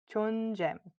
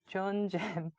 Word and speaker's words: 존잼: So if you were to pronounce it, it would be like 존잼, 존잼.